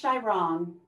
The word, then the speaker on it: Xiaorong: My name is Shairong. It is spelled X-I-A-O-R-O-N-G.